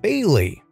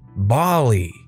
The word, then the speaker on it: Bailey: a fake name here let's say my name is bailey pronounced bailey pretty straightforward right well this teacher always always pronounced it bali it hurt because i